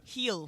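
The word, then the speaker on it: Gil: Jorge you're killing me heel heel heel Luis heel yeah say it more like a heel on your foot he heel no it's not heel on your foot no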